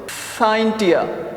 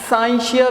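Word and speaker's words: scientia: साइंस का जो word है बेटा, साइंस का वर्ड बेटा, इट is derived from the Latin word साइंटिया, या इसको समटाइम्स साइंशिया भी प्रोनाउंस किया जाता है।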